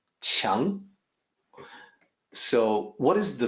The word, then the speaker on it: Qiang: I know people will look at that as Kiang or Quang, or they'll come up with their own pronunciation, but the Q sounds like CH, so it's actually more like Qiang.